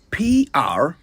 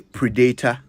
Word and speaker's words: predator: Did you say predator? Don't worry, you're not alone. This is one of the most commonly mispronounced words in our part of the world. The correct pronunciation is predator.